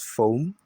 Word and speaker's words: foam: Another one is foam, F-O-A-M. You pay attention to the first one, the second, which is A, is silent, and it's the long sound O, and it's not O, it's not foam.